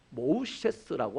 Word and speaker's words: 모세: 이 모세는 실제로 그 당시 이집트의 발음으로 하자면 모우셰스라고 합니다.